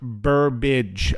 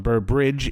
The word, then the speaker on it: Burbage: June 14th at Bishop Burbage oh I spel I said it wrong I called him Burbridge it's Burbage at Bishop Burbage if you